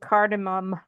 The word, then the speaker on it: cardamom: I just want to say I have spelled cardamom and said it wrong my entire life.